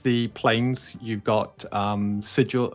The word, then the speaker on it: Sigil: planes, you've got um Sigil or Sigle as someone says we we should be pronouncing it.